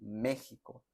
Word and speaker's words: México: Yo tampoco entiendo eso, pero México tiene una X y se pronuncia así, México, como si fuera una J, ¿no?